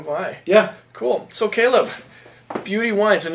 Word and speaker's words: Buty: a yeah there we go Caleb Foster from beauty wines down in Walla Wala Washington thank you for being with us today Caleb glad to be here appreciate you coming by yeah cool so Caleb Beauty wines and not b b a u t